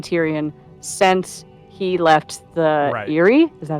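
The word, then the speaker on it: Eyrie: we have seen Tyrion since he left the Eerie is that how you say it the Eerie yes and two things happen the first is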